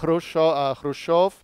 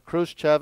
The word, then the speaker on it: Khrushchev: and that's when uh Nikita khrushchov or Khrushchev is you sometimes will hear it pronounced in in English transliteration and he comes to